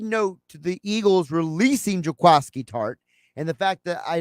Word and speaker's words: Jaquiski Tartt: Now, as a side note to the Eagles releasing Jaquiski Tartt and the fact that I know hopefully no longer have to hear people on television mispronounce his name. It's not Jaquiski, it's Jaquiski Tartt.